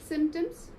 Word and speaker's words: symptoms: Symptoms. Symptoms. Okay. The word P over there is silent.